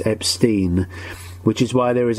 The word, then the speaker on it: Epstein: i've been saying brian epstein um because that's how he said it but his family always pronounced their surname as epstein which is why there